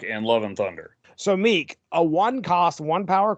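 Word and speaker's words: Miek: next one's name I I called him Meek yeah that's what I always called him and that's what Thor and cor call him in Ragnarok and love and thunder so Meek a one cost one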